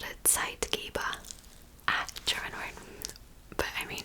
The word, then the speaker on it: Zeitgeber: its activity with the environment is called a Zeitgeber. German word. But I mean, if I didn't know German, I would have pronounced that Zeitgeber, probably. German for time giver. Zeitgeber.